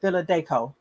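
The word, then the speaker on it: Philadanco: the philadelphia company and this is philadelphia okay villa deco that's that's how it's pronounced although dolores didn't get to have a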